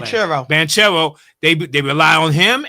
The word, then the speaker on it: Banchero: Banchero.